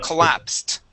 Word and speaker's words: collapsed: Okay, so for example, this word here, the word is collapsed. Uh, collapsed with a t ending.